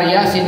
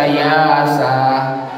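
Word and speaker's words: يس: Kalau tidak pernah kita dengar Yasin bacanya, boleh jadi kita baca Yasa.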